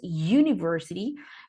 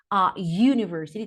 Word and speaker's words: university: Con la vocal U, pero el sonido de esta U no es de vocal, sino es de consonante. Tiene el mismo sonido que el de la consonante. I'm sorry. Cuando decimos yes, cuando decimos yellow, for example, university tiene ese sonido you.